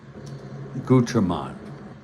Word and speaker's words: Gutman: because I if you really want to know how to pronounce my name, it's Gutman. I think the umlets are in there.